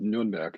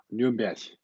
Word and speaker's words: Nürnberg: By the way, it's pronounced Nürnberg in German. Nürnberg, as they say it actually.